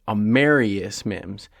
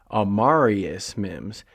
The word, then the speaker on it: Amarius: that's one thing everybody before the draft was pronouncing it a marus Mims but then as soon as they drafted him Zack Taylor at the press conference announced him as amarius Mims and he said it twice very distinctly amarius